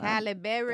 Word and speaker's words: Halle Berry: Uh, Halle Berry. I've been saying that woman's Halle Berry. Holly. Child. Her name ain't Holly Berry. Halle Berry.